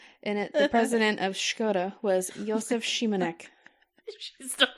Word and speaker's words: Škoda: This is perfect pronunciation. It's Škoda. And the president of Škoda was Josef Šimanek.